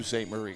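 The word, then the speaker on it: Sault Ste. Marie: I'm from Michigan so I should say s St Marie correctly yeah you did say it right uh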